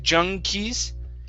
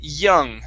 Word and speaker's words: young: up is uh okay young young kids instead of Junes it's young young kids Jun kids J